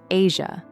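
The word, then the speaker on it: Eja: She became a devoted mother to her son EA, pronounced Asia, born in 2001, and focused on creating a stable family life.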